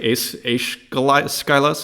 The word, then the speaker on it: Aeschylus: Aeschylus, what looks like Aeschylus, it's Aeschylus, I believe, is the pronunciation.